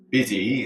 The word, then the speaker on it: busy: It's going to be busy, is the pronunciation, but yes.